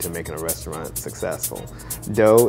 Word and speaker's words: Do: Dough is spelled D-O as in do, re, mi, fa, so.